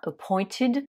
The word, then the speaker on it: appointed: on met juste ed ce ed on le prononce bien ID hein appointed et avant j'ai conjugué